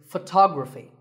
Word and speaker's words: photography: Our next word is photography. We say photograph, but photography. So the first syllable becomes f, and the stress goes to the second syllable, photography. So photography.